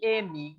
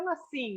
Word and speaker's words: Nasim: mim era Nassim, né? É, Mas eu acho que talvez a pronúncia correta fosse Nazim, né?